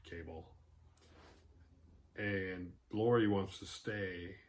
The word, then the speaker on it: Cabal: I'm assuming it's pronounced Cabal, not Cable.